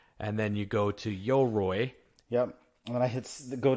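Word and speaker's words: Yoroi: You get the Yo-Roi.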